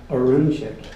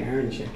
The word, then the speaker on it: Arunchik: Speaking of enunciation, Arunchik, and see, I just want to say Aaronchik, and I never said that to his face, so note taken.